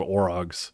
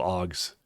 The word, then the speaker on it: Ogs: They're not called Orogs. They're called Ogs.